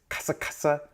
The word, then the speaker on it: kasa: So the proper vocalization is kasa with the actual A, not the E.